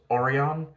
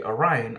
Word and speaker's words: Orion: um and throughout the entire episode they were pronouncing Orion as oron um so that confused me that tripped me